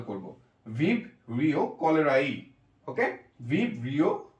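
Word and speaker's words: cholerae: হচ্ছে এই এটা সাইলেন্ট করে কলেরাই ইটা দিয়ে উচ্চারণ করব, ভিব্রিও কলেরাই। ওকে, ভিব্রিও কলেরাই, ভিব্রিও কলেরাই।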